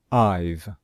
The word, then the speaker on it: I've: cleaned i've cleaned so we put an apostrophe and then the letters v e and we pronounce it as one syllable i've you've cleaned he's cleaned